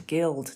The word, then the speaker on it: gild: follows the same pronunciation so Guild is a hard G even though it's followed by an eye so I'd need to